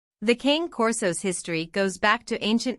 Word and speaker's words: Cane Corso: Regardless of the etymology of the name, the Cane Corso, pronounced Cane Corso, may be a dog through and through, and one whose instinct is to safeguard their family.